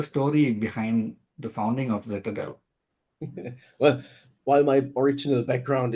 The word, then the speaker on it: Zitadel: Foster who is the CEO and co-founder at zadel that's spelled z i t a d l zadel um Florian welcome it's great to have you